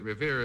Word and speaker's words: Revere: Well, but Revere has got a Revere is good. Yes, it has a nice ring to it. Nice ring there. It rhymes with here, which is important to it.